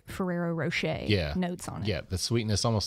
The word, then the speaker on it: Ferrero Rocher: nut I'm getting is like a hazelnutty like Ferrero Rocher yeah notes on it yeah the sweetness almost